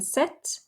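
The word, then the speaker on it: sept: what 17 boxes again we don't pronounce the p in set um and from 17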